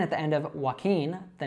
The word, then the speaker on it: Joaquin: So it's Joaquin, Joaquin. Now a good way to remember this is that it sounds like the verb walking.